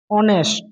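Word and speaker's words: honest: অর হি ইজ অ্যান অনেস্ট অনেস্ট farmer. Farmer মানে কৃষক বা চাষি। তাহলে এখানে এন আমি কেন বসাইছি? কারণ এজটা অনেস্ট, এজের মতো উচ্চারিত হয় না, অ এর মতো উচ্চারিত হয় এজ।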